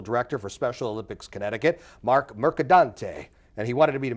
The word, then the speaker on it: Mercadante: it mercadante mercadante a lot of people throw an n in there or merant and uh I think my parents would be very proud if when people can say our name correctly mercadante it's like a pasta I'll I'll say mostly